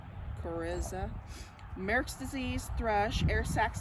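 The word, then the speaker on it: coryza: calora infection infectious bronchitis infectious crinsa i think that's how you say it c-o-r-y-z-a chariza merrick's disease thresh air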